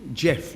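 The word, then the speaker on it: Geoff: pronounce his name properly I pronounced it for them it Jeff g e o f f so he said why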